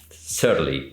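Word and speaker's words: Cearley: Que se llama Clint, voy a decir su apellido bien, Searly o Searly se escribe.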